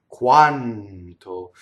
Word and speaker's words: quanto: Notice that N, when it touches a consonant, it follows the same rule as R. It doubles and it stays in phonation, you see? So the N leading up to the T, quanto.